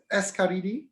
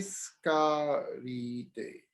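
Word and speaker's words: Tsiskaridze: get it this is this is your name escaridi no not really okay see scary day okay that's better nikolai ciscaridae december 31 1973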